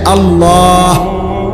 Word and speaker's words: আল্লাহ: শেষে আল্লাহ, শেষে একটা গোল হা আছে, ছোট হা। আল্লাহ মানে আল্লাহু।